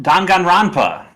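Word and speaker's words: Danganronpa: like japanese games though uh don gunn wrong don gun ronpa that's how you pronounce it duncan rappa i've heard this game for a really long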